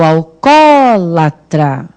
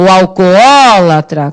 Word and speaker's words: alcoólatra: as pessoas são assim ou alcólatra já começando tudo errado é tá tudo errado porque veja bem não pode ter preguiça pra pronunciar a palavra nós temos na hora de chamar sem preguiça sem fadiga vai fazer chamar assim o alcóolatra porque você tem dois olhos a serem pronunciados então no momento em